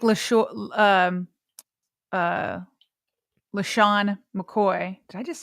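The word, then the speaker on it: LeSean McCoy: Question I kind of have like when people like Lo um uh Lehan McCoy, did I just say his name right?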